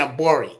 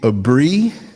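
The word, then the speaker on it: Aburi: I've been saying Abori. It's actually a Bree.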